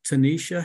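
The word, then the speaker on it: Tonyisha: next two speakers are Tanisha and Steve Stephen fate I hope I pronounce that correctly Tanisha are you there hello yes I am and you did pronounce it correctly great thank you could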